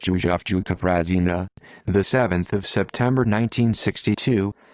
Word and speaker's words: Prazina: yusuf juka prasina pronounced yujafjuka prasina the 7th of september 1962 3 the 4th